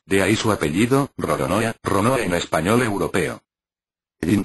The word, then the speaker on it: Roronoa: un juego de palabras Los japoneses les cuesta pronunciar la letra l pues no se encuentra en Su vocabulario habitual y la susen por una r entonces para ellos Esto suena rorona de ahí su apellido